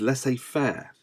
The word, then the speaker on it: laissez-faire: So we have autocratic in this area, democratic, moving to the other management style, which is slightly less mentioned, which is laissez-faire, which is spelled LAISSEZ FAIRE.